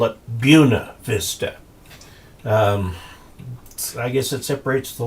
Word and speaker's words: Buena Vista: There's also a place in Colorado that is spelled Buena Vista, and they call it Buena Vista.